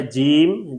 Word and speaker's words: جیم: Single long نہیں بلکہ triple long. Single لمبا نہیں کیا بلکہ 3 درجے ہم نے اس کو زیادہ لمبا کیا ہے. اس کا انگلش سپیلنگ ہے جیم جے ٹرپل ای ایم.